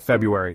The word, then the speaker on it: February: you would be surprised how many people just casually skip right over that first R don't be that person